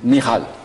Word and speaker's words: Michal: Michal. Voilà, c'est la prononciation hébraïque.